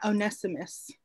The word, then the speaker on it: Onesimus: Yeah, Onesimus. Onesimus.